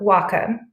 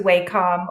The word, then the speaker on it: Wacom: it is pronounced W which means Harmony in Japanese and Comm as in computer so Wacom but hey we will answer to waycom or Wacom no judgment